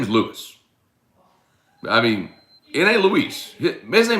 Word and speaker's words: Louis: spelled lewis it's not l-u-i-s it's not luis it's lewis l-o-u-i-s lewis how about we